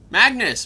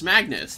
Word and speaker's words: Magnus: Oh god, I can't remember how to pronounce it. Magnus. Magnus. That was it.